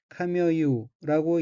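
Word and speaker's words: 髪結う: 다음 어귀는 한자가 터럭 발자와 맺을 결자이고 일본어로는 카미어유라고 읽으며 카미어유는 머리, 머리털, 머리카락이란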